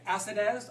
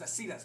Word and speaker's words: Acidez: me know if I'm not saying it correctly, Acidez? I thought it was Acidez.